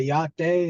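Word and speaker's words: Yá'át'ééh: correct okay awesome so you guys say your day is that how you say it yeah that's very good yes yes so hello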